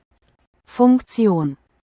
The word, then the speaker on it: Funktion: How to pronounce function in German? What is German function? Function. Funktion.